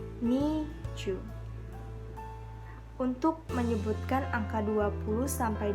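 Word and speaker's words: 二十: Angka 12 itu kan 10 ditambah 2. Nah, bacanya chu ni. Nah, kalau untuk angka 20 kita sebutkan sesuai dengan penyebutan dalam bahasa Indonesia, yaitu 20. Berarti kita baca ni chu.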